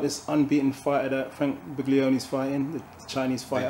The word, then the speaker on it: Buglioni: Speaking of the unknown, would you know about this unbeaten fighter that Frank Buglioni's fighting, the Chinese fighter? The G is silent.